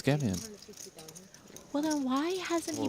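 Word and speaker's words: Schemion: If I was there, I called It's Shemian. Apparently Ollie said it is Skemian.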